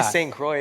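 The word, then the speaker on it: St. Croix: here St I call it stact we say St Croy in America but it's in the Caribbean it's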